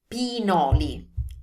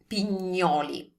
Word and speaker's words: pinoli: Now, what I've heard a lot is this word pronounced as pignoli. So with a GN sound, or a pignoli. So with a GN sound, like there were a G. There's no G there, so it's pinoli.